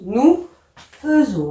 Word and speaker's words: faisons: F-A-I-S-O-N-S, mais on prononce nous faisons. Hein. Attention, c'est différent.